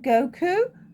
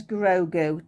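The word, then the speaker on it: Grogu: really bad i don't think i actually said goku which is dragon ball z but no it's grogo does almost sound the same though that's my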